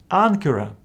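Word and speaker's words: ἄγκυρα: these letters follow gamma this first gamma is pronounced as n for example in this world Ankara Ankara from which we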